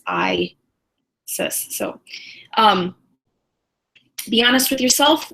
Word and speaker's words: Isis: Isis and I had I thought it was maybe saying it wrong some kind of ironic Isis but how you pronounce it is I says so be honest with